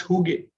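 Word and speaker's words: hygge: of such best practices is is the the huge way of creating a workplace it's it's from scandinavia right it's from denmark it's called h-y-g-g-e and it's pronounced huge now what's in huge kind of workplace a huge kind of workplace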